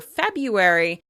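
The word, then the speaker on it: February: Or have you wondered why people often call the second month of the year "Febyuary," even though there's technically an "r" in the middle?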